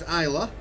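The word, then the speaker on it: Islay: It's spelled I but it's pronounced Isa as in I love flying aircraft.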